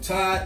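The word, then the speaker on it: Ptah: deity ty p tah the P is silent and so I didn't say this but Ty's pronounced time all right now we can see that there and tie is the Egyptian creator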